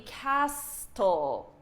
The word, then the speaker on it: castle: For example, if you could, this word would be castle. Castle. I don't even know how you would pronounce it, but it wouldn't be castle. It wouldn't be castle because this T is silent.